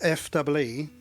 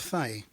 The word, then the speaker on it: Fee: not a song and it's spelled F EE but it's not pronounced fee it's pronounced tu fais because I wrote this